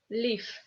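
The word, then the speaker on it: Лив: In the end of the word, this V becomes F, Liv.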